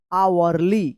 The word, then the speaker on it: hourly: यहां पे भी एच का उच्चारण नहीं हो रहा है, यानी एच साइलेंट है। HOURLY, आवरली।